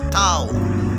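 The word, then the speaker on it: תו: தாவுடைய sound TH சேர்ந்து வரும். Like that, this என்ற TH சவுண்டில் இது செயல்படுகிறது. தாவுடைய தமிழ் உச்சரிப்பு தாத்தா, தித்தி, தித்து என்ற தமிழ் உச்சரிப்பு வரிசையில் செயல்படுகிறது.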